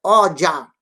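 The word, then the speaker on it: ọjà: Mercado em Urubá é o, é oja. O sinalizado embaixo, J-A. O-J-A. O-J-A. Enquanto que o português se encheu de letra para dizer mercado. O Urubá só na pronúncia oja. Oja. Oja. Acento grave no A.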